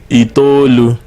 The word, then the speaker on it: itolu: Itolu. Itolu. Stretch it. You have to stretch the O.